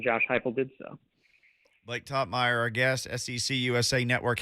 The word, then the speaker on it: Toppmeyer: What's the correct pronunciation? It's Toppmeyer. Usually people add the extra E or the L in there.